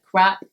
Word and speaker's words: crap: do you make sure that you say the pronunciation of crap correctly because it is a pop sound at